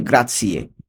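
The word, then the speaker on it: grazie: গ্রাসিয়ে উচ্চারণটা খেয়াল করুন জেড আছে কিন্তু উচ্চারণ হবে গ্রাসিয়ে ইংরেজিতে থ্যাঙ্ক ইউ এরপরে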